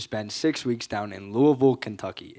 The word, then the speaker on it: Louisville: six weeks down in Louisville Kentucky it is pronounced Louisville not Louisville I learned that very